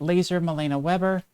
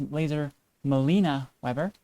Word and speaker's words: Laser Malena-Webber: That is our guest tonight, Laser Melena-Webber. Very excited to have them on the show tonight. Actually, I think I mispronounced that. It's Laser Melena-Webber.